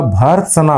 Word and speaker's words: भर्त्सना: अब इसका रूप कैसा होगा, भर्त्सना, भय के बाद में रह का उच्चारण है, तो विद्यार्थियों इस सह के ऊपर रह का आना जरूरी है।